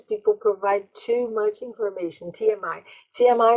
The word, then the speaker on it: TMI: And sometimes people provide too much information, TMI. TMI é outra abreviatura aí, né? E esse é um inicialismo, porque eu falo TMI, eu pronuncio cada uma das letras, né?